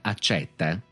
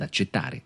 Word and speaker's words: accetta: prima accetta e accetta vedete cambia la pronuncia della e nel caso io dica accetta sto facendo riferimento al verbo egli accetta oppure sto invitando una persona ad accettare accetta la pronuncia della e ripeto è aperta nel caso invece io dica accetta con la è chiusa intendo la scure la città quella per